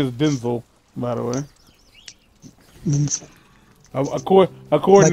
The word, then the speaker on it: Denzel: Denzel. According like to Crocker. Him, that's... According to him, that's how you pronounce it.